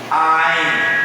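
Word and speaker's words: ayin: Ain. Estou forçando a glutura, a garganta. Então são chamadas de consoantes guturais.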